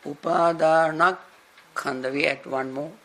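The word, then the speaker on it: Upādānakkhandha: Now, Upadana plus Khanda make Upadanak Khanda. We add one more K. Otherwise, saying Upadana Khanda is something we hear odd.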